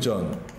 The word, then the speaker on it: genre: 자, 이 attractive genre, 매력적인 장르. genre이 우리나라 발음에서 발음 잘못해서 이게 장르로 바뀌었죠.